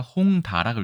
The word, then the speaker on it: 홍다: 그 다음 것도 볼까요 홍차라고 읽겠습니까 홍다라고 읽겠습니까 의외로 묶어서전에서 홍다로 읽습니다 홍다 차에 하나 차나무의